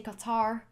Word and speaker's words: Qatar: zooming in on gothic yes qatar is the right pronunciation but i don't think it's wrong to say qatar let's zoom in qatar